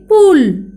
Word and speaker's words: पुल: चलो दोहराओ ये शब्द पुल। प को मैंने ऊ की मात्रा उच्चारण कैसे करते देखो, पू जमा ल पुल, यानी ह्रस्व ऊ की मात्रा है इसलिए पुल ऐसे उच्चारण करना है।